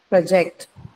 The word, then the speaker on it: project: You were talking about project. It's used as a verb. Second syllable. Second syllable.